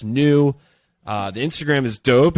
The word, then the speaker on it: NUS: yeah and it's called new right that's the company and our latest partner we're so I know so hyped and it's spelled n-u-s pronounced new uh the Instagram is